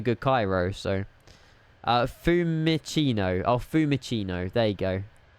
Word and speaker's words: Fiumicino: Oh, Fiumicino. There you go. Fiumicino. Bit better pronunciation, isn't it?